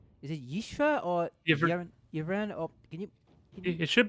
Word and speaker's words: Yvraine: Is it Yishra or Yevran? Or can you? It should be Yvrain there.